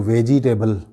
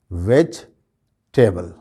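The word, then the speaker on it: vegetable: या बोलते हैं तो वेजिटेबल करके जो है इसको बोलते हैं। तो इसमें भी जो है वो ये जो ई है इस पर स्ट्रेस नहीं दिया जाता। इसका सही प्रोनाउंसिएशन क्या है? वेजिटेबल, वेजिटेबल, वेजिटेबल, वेजिटेबल।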